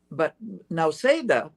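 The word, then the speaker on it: Nausėda: But now Seda, this is some news for you, is spelled Nauseda, now Seda.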